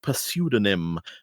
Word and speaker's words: pseudonym: each is given a pseudonym drawn from i know you don't pronounce the p drawn from cludo before